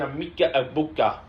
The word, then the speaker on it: Emeka Egbuka: And Emeka Egbuka.